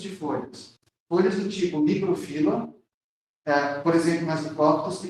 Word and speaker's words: microfila: com folhas do tipo microfila, por favor, gente, a pronúncia correta é microfila, megafila, tá bom? Eu já vi livros acentuando essas palavras. Não, a forma correta é sem um acento, tá?